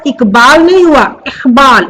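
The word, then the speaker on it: इक़बाल: ये डॉट लगने से ये ख जैसा इसका प्रोनाउंस होता है। ख भी नहीं पूरा होता है, अली जिह्वा में थोड़ा कंपन उत्पन्न करते हैं, इकबाल इकबाल, इस तरह से।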